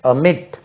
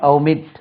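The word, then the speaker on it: omit: ஓ எம் ஐ டி இதுக்கு உச்சரிவு பாருங்க எம் மேல அமிட் அமிட் சொல்லலாம் அமிட் சொல்லலாம் இல்லைன்னா ஒமிட் இதுக்கு ஃபர்ஸ்ட் பிரிபரன்ஸ் அமிட் அமிட் அது எல்லாமே ஒமிட் ஒமிட் ஒமிட் தான் சொல்லும் stress lies on the second ஸ்லெபில் அமிட் அமிட்டட் அமிட்டட் ஓ எம்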